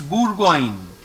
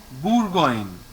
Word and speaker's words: Bourgogne: No, OU is pronounced as U. So it is Bourgogne. Bourgogne.